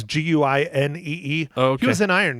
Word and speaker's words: Guinee: And anyways, okay, Mike, another one was Tim, I don't know how you pronounce this last name. Guinee. It's Guinee.